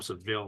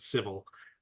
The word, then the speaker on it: Seville: Seville picked up a I call them Seville because that's the way it looks like it's spelled to me but I think they pronounce it civil just drop their business